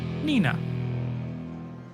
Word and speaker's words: Nina: Nina.